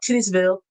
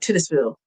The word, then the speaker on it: Titusville: You think I'm not going to put the emphasis on the Titus? I don't think you're supposed to. I don't think you're supposed to. Because it's spelled Oh, Titus like like Titus. But they say Titus.